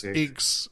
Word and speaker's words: Deus Ex: Yes, Deus, Deus Ex.